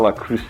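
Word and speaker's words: Le Creuset: That I just got La Cruce, I think is how you say that. My daughter says don't use the T in French, and so she had 4 years of French.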